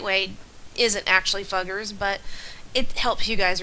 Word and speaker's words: Fugger: Um, if I get phone calls about the fuggers, I'm going to tell them that I told you that it's pronounced fuggers.